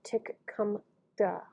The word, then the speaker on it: Tecumseh: Even the pronunciation is elusive. Ruddell, who spoke both English and Shawnee fluently, gave it as Tic-cum-tha.